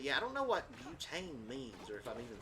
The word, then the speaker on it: butane: Okay, how do I pronounce it? Butane. Okay, it's pronounced butane.